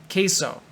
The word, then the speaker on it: queso: oh I want queso but because it's Spanish it sounds like a k k so queso uh if you ever